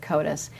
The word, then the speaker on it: CODIS: the Denver Police Department and Eric Duvall with CODIS so Eric I want to start with you